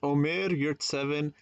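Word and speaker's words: Ömer Yurtseven: a look at is omer you're seven and yes that's how you pronounce his name and yes i did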